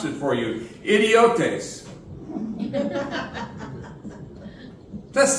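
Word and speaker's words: ἰδιώτης: unskilled it's an interesting Greek word let me pronounce it for you idiotes does sound like like an English word which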